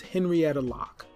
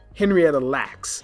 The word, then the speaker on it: Henrietta Lacks: to her name is henrietta locke okay remember that google her did i say it correctly lacks henrietta lacks it's okay we're inside